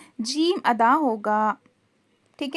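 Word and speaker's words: جيم: जो है वह है जीम ठीक है जीम की प्रोनाउंस देखिए कैसा है जीम जुबान के बीच के हिस्से को ऊपर के तालू में लगाने से जीम अदा होता है जुबान का जो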